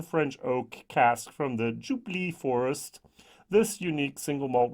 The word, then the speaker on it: Jupille: Jupille, not Jubilee, Jupille finish. And even that's probably wrongly pronounced.